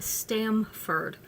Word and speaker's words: Stamford: Oh, see, they said it wrong. It's East Stamford.